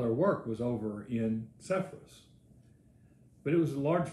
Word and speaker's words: Sepphoris: Zapori, I think, is how it's said over there, but we call it Sepphoris.